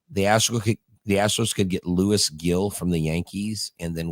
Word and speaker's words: Gil: So, Gil, it's pronounced, it's spelled Gil, but you're supposed to say it like with a silent G. So it's like Hill.